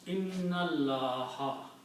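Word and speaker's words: إِنَّ اللَّه: When you combine these two, then you do not pronounce this alif also. Noon will go with the lam, and this will become hamzatul wasl, and you put a little swad on it. That means do not pronounce alif. So the combination of these will be inna Allah.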